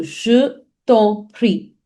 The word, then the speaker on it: je t'en prie: So je t'en prie. Je t'en prie. Je t'en prie. Je t'en prie. So it's very important. Understand the sound. Je vous en prie. Je vous en prie. Je t'en prie.